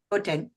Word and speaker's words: Gauteng: How should I pronounce it, by the way, just so I know? Gauteng.